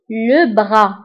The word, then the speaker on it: le bras: فلو بغا نكتبها بإس في آخر كلمة ولكن لا ننطقها، نقول le bras.